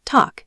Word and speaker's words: tack: The basic talk, pronounced talk, is fine, but mastering the melodic 3-word pronunciation of tack så mycket pays significant dividends in how locals receive you.